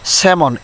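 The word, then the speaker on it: salmon: স্যামন এটি একটি মাছের নাম, স্যামন মাছ।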